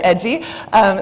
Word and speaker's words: EDGI: It's so cute, so I wanted to make sure, edgy. This is a watchdog group for federal environmental data. In her current role with EDGI, Kelsey is building on her work, in EDGI is pronounced EDGI, archiving data and environmental enforcement watch.